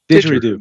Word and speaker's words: didgeridoo: Didgeridoo? Yeah, Oh, yeah, yeah. didgeridoo. Didgeridoo, Didgeridoo.